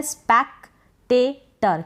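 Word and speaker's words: spectator: तो यहाँ पर टर, क्योंकि ओ आर है, ओ को हमने अ पढ़ा।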